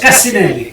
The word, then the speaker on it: Cassinelli: Did I pronounce that correctly? Yes, Cassinelli.